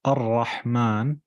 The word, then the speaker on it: الرحمن: أحسن one thing I want you to notice look at how الرحمن pronounced الرحمن where you pull the meme with an alif but because it's written so often they then skipped out the alif so even if you open the Mus'haf the Quran you'll find it's written like that Bismillah ar-Rahman ar-Rahim but there's no alif here why so you don't read Abdul Rahmani it's Abdul Rahmani alif is not written but it's pronounced carry on يعمل في